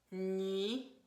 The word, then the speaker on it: nuit: A lot of times this is mispronounced with a W sound. Nuit, oui. And you really want it to be E versus oui. Oui, you want E.